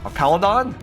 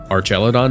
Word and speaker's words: Archaludon: We don't want to do it on I forgot how to pronounce it. Archaludon?